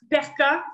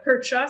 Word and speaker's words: percha: Oui, Gutta, G-U-T-T-A, espace, Perca ou Percha, ça dépend, personne le prononce pareil, là, c'est comme pas clair comment le prononcer, P-E-R-C-H-A.